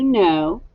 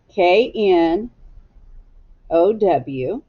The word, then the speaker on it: know: no no this is a tricky word because it starts with a silent k k n o w do you know k-n-o-w